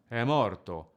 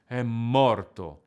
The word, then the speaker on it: è morto: A singer could pronounce those words like è morto, which doesn't really have any energy in it, or è morto. The double M contains all the sadness, anger, frustration, and shock that any mother would